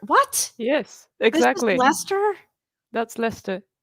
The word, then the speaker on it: Leicester: And it's Leicester. What? Yes, This exactly. is Leicester?